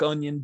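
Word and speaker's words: Anyn: to call him dodo onion uh it's a-n-y-n but if you want to say it like onion that is totally cool with me um let's let's see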